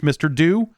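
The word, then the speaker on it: Mr. Do: it is it is in fact it is pronounced mr do but that yes the it makes sense that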